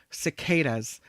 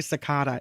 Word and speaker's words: cicada: We've talked a little bit about this before, cicadas, and I always say it wrong. I think I usually say cicada. It's a cicada. They're coming, these cicadas.